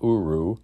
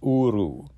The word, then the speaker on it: uru: Hebrew it's just so the r of uru is flipped it's not uru it's uru uru and then the